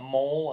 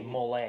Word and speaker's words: Molay: I wouldn't call it mole. I'd say Molay. It's probably Molay, yeah. Is the way they actually pronounce it.